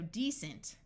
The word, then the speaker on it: decent: active here we have the root word decent with a long e and a c using its soft sound of s because of the E so decent we add in and